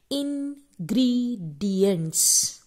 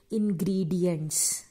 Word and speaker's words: ingredients: New word for यू, यू are going to pronounce it like इंग्रेडिएंट्स. आई am repeating my self, the spellings are INGREDIENTS. The pronunciation is इनग्रीडियंट्स.